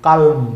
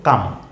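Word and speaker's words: calm: সি এল এম কালম। কিন্তু ন কাল নয়। উচ্চারণ হল কাম।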